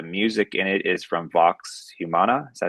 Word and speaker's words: Vox Humana: So before I play it, I just want to say that the music in it is from Vox Humana. Is that how you pronounce it?